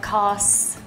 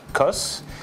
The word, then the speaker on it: Cos: being the loire river if you are from the south you pronounce all the letters so it becomes koss if you are from